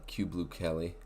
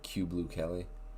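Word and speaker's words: Kyu Blue Kelly: them they added uh Cube blue Kelly I think that's how you pronounce it um I was always calling him Caillou but they have q blue Kelly uh and I think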